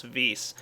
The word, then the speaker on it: Vis: And no, I'm not mispronouncing that. That is actually the proper way to pronounce Vis.